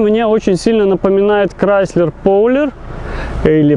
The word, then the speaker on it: Prowler: Как бы дизайн мне очень сильно напоминает Chrysler Prowler, или Prowler, как он правильно читается.